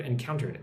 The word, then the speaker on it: encountered: Look at the word encountered. Encountered. Encountered. Emphasis on the second part.